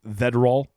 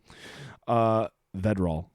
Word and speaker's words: Vedral: Vedral. It's got to be it, right? It's not Verdal, or it'd be the R and the D would be mixed up.